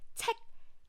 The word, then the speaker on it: 책: It's not check, check, check. It's check. So we don't have the k sound.